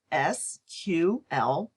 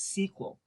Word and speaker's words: SQL: the then-new SQL language SQL is sometimes pronounced as SQL and other times as sequel some other commercial relational